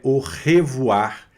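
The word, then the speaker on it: au revoir: Então é o revoar. Revoar, sempre arranhando na garganta.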